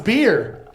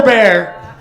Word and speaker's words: Bear: hitchhiking in Mex Mexico then they thought I was saying my name was beer they said beer they're like this stupid American named himself beer I said no bear and so I would